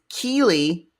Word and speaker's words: Keylie: I just heard a K thing and I went, it is Keeley and Cammie. And Keeley is spelled like, hand me that key to that door, like Keylie, and Cammie with a K, and I believe it's Kammi.